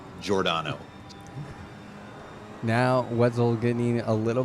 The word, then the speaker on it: Giordano: It's just one of those names with a funky pronunciation, kind of like Giordano. It doesn't look like how it's said, but it's Giordano.